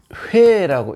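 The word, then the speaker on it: 虫: 그런데 이 충이라는 이 글자, 이 글자는 원래 원래는 이걸 충이라고 읽지 않고 이렇게 회라고 읽었습니다.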